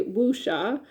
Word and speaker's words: wuxia: videos on YouTube to try and get the pronunciation. I've heard that the person that I listened to said you can say wuxia, but it's closer to wuxia film, so Wuxia.